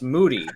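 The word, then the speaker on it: Mudi: generally european all right this one's pronounced moody plural is it again moody the plural is mutic i'm gonna guess dutch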